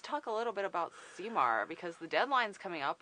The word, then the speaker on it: CMAR: We pronounce it CMAR.